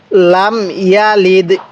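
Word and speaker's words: لم يلد: আল্লাহু আহাদ আল্লাহুস সামাদ এরকম ভাবে শিখবো এরপরে লাম ইয়ালিদ এরপরে লাম ইয়ালিদ এই ইয়া এর মধ্যে টান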